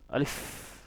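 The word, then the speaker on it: ألف: এটা হচ্ছে আলিফ। এটা আপনার যত তাড়াতাড়ি পারেন আপনি এটা উচ্চারণ করবেন। যেমন আলিফ, যখন আলিফ বলবেন আপনার সাথে সাথে আপনার মুখ দিয়ে কি বের হবে? বাতাস বের হবে।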